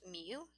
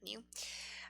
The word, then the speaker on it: mu: expected value we we this is a greek letter pronounced miu miu i guess you would say mu and is all of